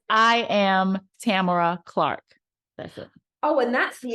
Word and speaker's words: Tamara: if you meet her it's hi Tamara and not although we all call